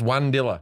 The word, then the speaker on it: Unadilla: a town in georgia unadilla is that how you pronounce it yeah forest told me that right before we started recording and i go what that's one dilla yeah um myron thank